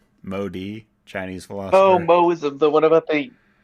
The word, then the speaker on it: Mohism: Moism, the what about the I think they just put universal the H good? there because I'm not sure if the H is supposed to be like pronounced or not. I think it's just a So just like a hyphen. No, glottal stop kind of.